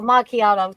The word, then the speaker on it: macchiato: Oh, macchiato. I don't think how you spell it either, but it's macchiato.